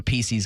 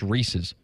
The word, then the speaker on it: Reese's: I think I'm a Pieces guy. Me too. I say Pieces, not intentionally. Like, it literally is Reese, which is just the word Reese, like Reese Witherspoon, apostrophe S. That's just Reese's.